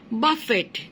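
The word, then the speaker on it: buffet: মারা হয় খুব জোরে, এটাকে বলা হয় বাফেট। তখন আমি টিটা উচ্চারণ করব, সে সময় ইট ইজ আ ভার্ব।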